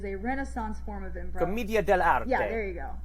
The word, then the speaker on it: Commedia dell'arte: The Harlequin is an archetype from A Mask from Commedia dell'arte, which I am mispronouncing, but it is a Renaissance form of improv. Commedia dell'arte.